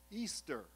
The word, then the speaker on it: Ishtar: fertility gods this is ishtar pronounced easter easter was originally the